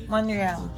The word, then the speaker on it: Montreal: Hindi daw pinapronounce yung T, sabi ng GPS. Montreal.